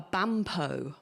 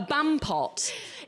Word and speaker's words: bampot: So, a bampot is a numpty to you and I. Okay. And I pronounced it like Merlot or potpourri, which isn't how you make friends in this good city.